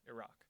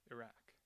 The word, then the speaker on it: Iraq: Democrats were more likely to use the ah vowel, Iraq, which is closer to the actual Arabic pronunciation and which I'll call the more source-like pronunciation.